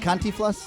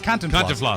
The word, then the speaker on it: Cantinflas: Is it Cantiflas? Cantinflas. Cantiflas. I like the way you guys say it. Cantinflas. Cantinflas. Cantinflas.